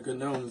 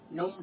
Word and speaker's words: GNOME: GNU in desktop environment, and GNOME, you gotta stress the G, right? You know, basically, I was happy with Debian 7. In fact, you know, and you can go back to the classic GNOME 2 look.